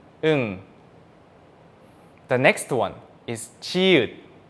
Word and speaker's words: 응: But if this 이응 appears on the bottom of a syllable, the sound is changed to ng sound, 응 sound.